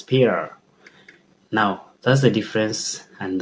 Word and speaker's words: Peter: So the T is not there. So it's Peter.